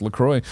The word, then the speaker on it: LaCroix: Lacroix it's hibiscus Lacroix sparkling water pronounced Lacroix was developed to give